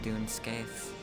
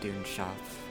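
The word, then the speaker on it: Dún Scaith: shuff for pronunciation looks like dune scaith in their thing but doomshot in pronunciation.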